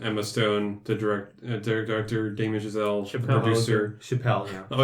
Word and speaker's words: Chazelle: She said his name like Chappelle. She pronounced it horribly. Chappelle, not Chazelle. Chapel. That bitch.